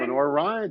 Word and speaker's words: Lenoir-Rhyne: And can you pronounce where he played? No. LENOIR-RHYNE? LENOIR-RHYNE? LENOIR-RHYNE.